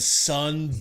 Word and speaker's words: Son: And so his name is Sun, but it's spelled S-O-N. Guess what his last name is? What is it? Doe. I'm done. This dude, I walked past his license on the wall today, and it said Sun Doe. And I was like, what? Wait a minute. I'm sure. But it's S-O-N Doe. But it's pronounced Sun.